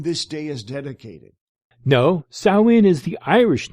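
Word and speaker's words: Samhain: their dead what that makes no sense Lord sway that's spelled s m ha a i n that's the historical druidic demon to whom this day is dedicated no Sinn is the Irish name for the end of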